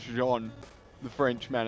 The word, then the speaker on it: Jean: man or is it Gene as in the pants he's like it's John the French man it's like okay Sean it's the French pronunciation of John but we call him